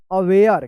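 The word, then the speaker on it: aware: ए डब्ल्यू ए आर ई अवेयर क्या पढ़ेंगे इसको?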